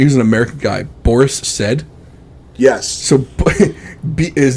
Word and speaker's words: Said: Boris Said. Yes. So his name was Boris. His last name was Saad, but he pronounced it Said.